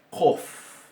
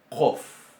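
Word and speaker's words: קוף: Después tenemos la Qof. Qof. Qof. Bien. Ese sonido es como una letra C, pero que se pronuncia un poco más atrás, en la úvula.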